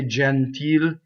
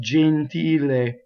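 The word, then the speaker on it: gentile: we tend to open we always say genteel right no it's Jean teal a jean teal a way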